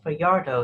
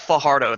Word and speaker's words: Fajardo: guest today is for yard oh is that in my fancy correctly it's pronounced Fajardo that J sounds like an H I always get that